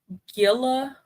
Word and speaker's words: Gila: It's pronounced Gila, like fish gills.